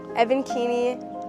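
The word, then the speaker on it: Evan Keeney: And then can you say your name and spell it out? Okay. Evan Keiny.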